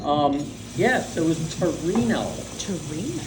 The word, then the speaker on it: Torino: repeated that's good um yes it was Torino Torino Torino and the English pronunciation is Teran and Teran New York was